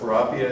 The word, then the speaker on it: Kurapia: breeder and Libya so if you're wondering why is this such a difficult name to pronounce just think of the word tilapia and say probably it's sterile and